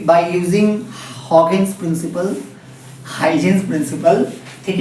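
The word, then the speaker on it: Huygens: Dual nature में बच्चों Hawkins principal, सभी इसको हाइजीन्स प्रिंसिपल बोलते हैं, बट रियल प्रोनाउंसिएशन सुनोगे तो हंसते हंसते लोटपोट हो जाओगे आप। हॉकिंस, ठीक है, इस हॉकिंस प्रिंसिपल, हॉकिंस प्रिंसिपल।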